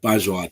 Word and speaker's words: Bajwa: Joining me today on the Undiluted Football Show, we have Dev Bajwa. Dev, I pronounced it right, Bajwa?